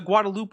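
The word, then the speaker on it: Guadeloupe: like the Guadaloop woman, which is apparently the correct pronunciation because it was owned by the French, which is dumb, stupid French.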